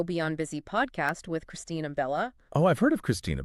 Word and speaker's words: Bella: busy podcast with Christina Bella oh I've heard of Christina Bella yeah so Christine it rhymes with a fella in case you're trying